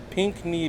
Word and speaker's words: Pickney: They had a little placard to help you learn how to pronounce it, but it's pink like the color, and then knee like the body part, but it's spelt all funny.